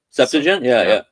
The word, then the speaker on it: Septuagint: told at Manchester that the way to pronounce it properly was Septuagint. Septuagint, so, that is one pronunciation among scholars. Yeah. So they warned me that if I didn't want to out myself too badly as an American or a Canadian, that I should say Septuagint.